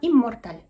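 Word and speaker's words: inmortal: Ив ритель знаем что на стыке букв э и эм мы э произносим как эм хотя на письме пишется ин Морта а произносится иммортал италь спрашивает удивлённо Рон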